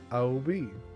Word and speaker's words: Obby: You can call me Obby or Nikki. The obby is pronounced Abby.